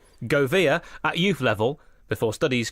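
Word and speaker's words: Gouveia: footballer had represented under pronounciation warning in effect go via G o UV e ia why not go via at youth level before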